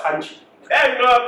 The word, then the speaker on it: Khanchi: No, some people say ganja, don't do that. Ganchi. Hey, bro, could pronounce it?